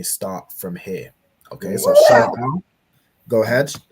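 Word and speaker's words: שמאל: So Sha is separate, Ma'al. Okay, so Sha Ma'al, Shama'al. Shama'al.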